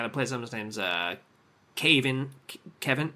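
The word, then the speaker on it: Kayvan: I think the guy that plays him, his name's Kevin. It's like Kevin, but it's spelled differently.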